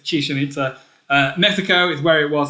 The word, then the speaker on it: Chichen Itza: Chichen Itza. I always read it as chicken. It's not chicken. It's Chichen Itza.